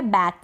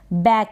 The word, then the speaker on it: back: बैक, इसको बेक ना पढ़ें। ये जो ए है ये ए की मात्रा के रूप में पढ़ा जा रहा है, इसका उच्चारण हो रहा है बैक, ये बी को ब पढ़ा जा रहा है।